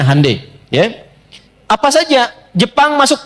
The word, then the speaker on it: Hyundai: bikin Hyundai ya ya Hyundai saya tahu bahasanya dibacanya hundai ya Apa saja Jepang